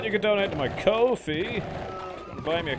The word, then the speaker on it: Ko-fi: But you can donate to my Ko-fi. Buy me a Ko-fi, I mean a coffee. You have to say it like that, because that's how it's spelled. Shit.